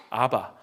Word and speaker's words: 아바: 때 아바라 불러요 아바 아바 꼭 아빠 같아요 비슷해요 발음이 아바 이렇게 불러요 아바는 사실은 아빠를